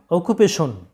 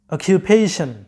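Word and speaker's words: occupation: number nine এখানে দেখো তোমরা এই শব্দটা সাধারণত অকুপেশন উচ্চারণটা করে থাকো বলো কিন্তু এটার সঠিক উচ্চারণটা হচ্ছে অকিপেশন অকিউপেশন যেটার বাংলা অর্থটা হচ্ছে পেশা পেশা নাম্বার টেন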